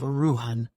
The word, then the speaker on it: Erewhon: understood that uan is pronounced as a word of three syllables all short thus Ian preface to Second